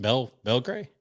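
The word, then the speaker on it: Belgray: that okay okay Laura Belgrade okay heard that name but I don't think I'm on our list or anything how do you spell that last Belle gray just the way it sounds b-e-l-g-r-a-y okay sometimes she'll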